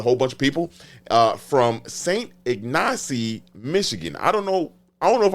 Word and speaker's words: St. Ignace: And they set out with a whole bunch of people from St. Ignace, Michigan.